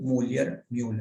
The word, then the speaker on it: Müller: El testículo fabrica factor antimülleriano, Müller, como Müller, con diéresis la U, Müller, se pronuncia eso.